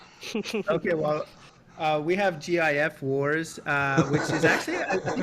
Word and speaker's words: GIF: say gif yes definitely jif it's definitely no no it's a g it's very definitely a hard g um yeah yeah i